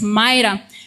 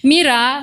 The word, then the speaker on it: Mira: I know the name should be pronounced as Myra but in this context allow us to pronounce this name as mirror means kio mirror.